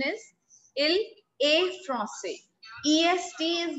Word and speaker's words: il est français: The correct word is, the correct pronunciation is il est français.